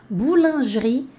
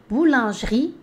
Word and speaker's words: boulangerie: o pão você vai comprar o pão na boulangerie patisserie Repete comigo para ficar bem bonitinho o seu a sua pronúncia boulangerie patisserie partes aí boulangerie boulangerie patisserie boulangerie patisserie